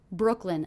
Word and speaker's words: Brooklyn: in brooklyn in Brooklyn Brooklyn a two-syllable word one of the syllables will be stressed what do you hear as being stressed Brooklyn Brooklyn definitely it's that first syllable Brooke Brooke Brooklyn Brooklyn